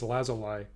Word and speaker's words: lazuli: Edition of this yeah I have lazuli yeah and then secondarily possibly lazuli so for so at least in this first and foremost it's lazuli but I guess I guess or possibly logically I guess is acceptable all right more than